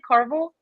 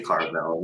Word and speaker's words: Carvel: the Carval tool set did I say that correctly Carvel yeah yeah it's definitely as far as her pronounced properly turned and I think if you say Carvel you know like that's still cool with me they're a couple different